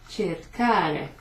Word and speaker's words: cercare: Cercare. So, ch sound, let's see, an E is a ch, and then we've got a hard C there, ca.